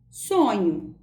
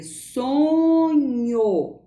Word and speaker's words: sonho: Veja, sonho termina com O, é sonho. Entretanto, quando eu pronuncio a palavra um pouquinho mais rápido, ela vai apresentar o som de U.